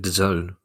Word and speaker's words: DAZN: do we slice it Doone that's that's how they're pronouncing is it Doone that's right yeah I'm I'm I'm